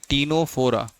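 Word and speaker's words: Ctenophora: जिसको हम कहते हैं टीनोफोरा। देखिए नाम से कंफ्यूज नहीं होना है। सी से लिखा है लेकिन टी से पढ़ रहे हैं क्योंकि सी जो है यहां पर साइलेंट है।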